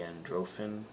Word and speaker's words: Androffan: the same so whether they're going to be androphin that's the pronunciation for it but you can represent that